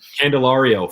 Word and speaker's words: Candelario: I still can't pronounce his name really well. And then Candelario, former Cub.